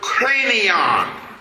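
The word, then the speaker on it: Kranion: The word Calvary comes from the root word or etmologically speaking comes from the word cranon. It's spelled K R A N I O N.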